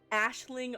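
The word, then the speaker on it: Aisling: yeah that's right it's it's pronounced kind of like like ash like Ashling almost cuz it's basically a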